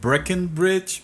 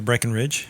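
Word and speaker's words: Breckenridge: porter uh bre from breckenbridge Brewery is that how how you pronounce it I think it's Breen Ridge Breen Ridge okay Breen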